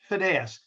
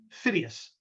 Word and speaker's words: Phidias: at olympia by the sculptor fides ah sorry phidias videos i always mispronounce his name and i've said it